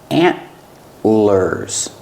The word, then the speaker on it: antlers: these are called antlers it's a stop tea the tongue goes up and stops the air antlers antlers deer have antlers